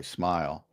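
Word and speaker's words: Smael: Or now you have another guy, Smile Munden, and that's how it's pronounced, by the way, Smile.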